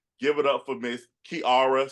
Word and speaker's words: Kiara: It is Kiara. And she's gonna be sure to tell you that it's not it's not Kiara, it's Kiara.